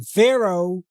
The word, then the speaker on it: Pharaoh: So, just like the name Pharaoh, we pronounce it O at the end, but it's spelled with a H.